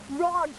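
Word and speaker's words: Roj: Blake's the man, but his actual name's Rog Blake, the name of heroes. But it's spelled R-O-J, just to give it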